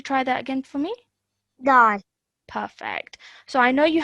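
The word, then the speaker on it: دال: Okay, this is dal. Da. Well, okay, so it has a dal. Okay, can you try that again for me? Dal.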